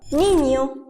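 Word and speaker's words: niño: زي جاتو كاسا جاتو حرف الانيه ده براند الاسباني بيتنطق نون يا ني بضغطه خفيفه زي اسبانيا نينيو اسبانيا ونينيو حرف الاو والبا الاثنين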